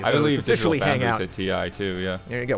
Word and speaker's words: Ti: The TI moniker on the high-end NVIDIA cards is pronounced TI. Depending on who you ask, most of the people confirmed that in chat.